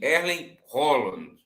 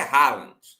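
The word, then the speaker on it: Erling Haaland: E na pronúncia deles é assim, Erlen Holland, mas para nós é Rollands, tá?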